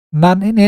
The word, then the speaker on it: 何: Nan ini dapat dibagi menjadi dua cara bacanya ya, ada yang nan maupun nani. Apabila langsung diikuti dengan deska, maka dibacanya nan.